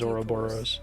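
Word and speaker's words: ouroboros: the mask of herberos now heard games pronounce that word in four different ways of course I think it sounded cool as soon bravely defaults I think the actual Greek pronunciation is oroboros take it you'll decide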